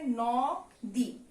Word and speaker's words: নদী: তা কিন্তু না, এটার উচ্চারণ আমরা কি করি? আমরা এটার উচ্চারণ করি হলো নো দি, আর উচ্চারণে দীর্ঘিকারটা সবসময় কি হয়ে যায়, ঋষিকার হয়ে যায়।